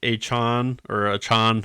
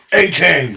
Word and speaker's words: Achane: Puka Nacua, Devon Achane, however he wants to pronounce it. A-Chain. I like A-Chain, but I think it's Achane.